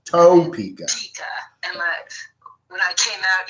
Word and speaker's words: Topeka: You gotta pronounce it toe, like your feet. Topeka. Topeka.